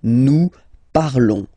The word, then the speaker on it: parlons: Remember, final s is not pronounced, okay? And then this on together, they will give you the sound on, okay? Nous parlons, all right?